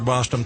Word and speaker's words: Bostom: Sounds like Boston, except it's spelled with an M. Again, Dr. Bostom, thank you so much for coming on today.